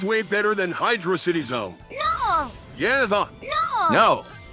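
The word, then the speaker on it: Hydrocity: Why wouldn't they add a space in between hydro and city that if it was supposed to be pronounced that way? They do this with every other zone. Why are you showing a low level of intelligence, Knuckles? Because the two words happen doesn't mean that they are the same pronunciation.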